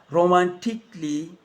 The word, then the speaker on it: romantically: with the letter a now the a can be silent especially in words that end in like this romantically musically logically so i am not